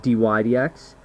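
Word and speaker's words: dy/dx: respect to x uh dydx um so again here's how you say it Dy DX say it with me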